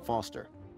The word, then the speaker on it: Foster: so it does I'm Foster I'll remember that easy because your name rhymes with fossil and you're old thanks